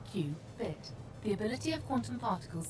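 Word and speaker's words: qubit: One quantum bit of information is known as a cubit, pronounced Qbit.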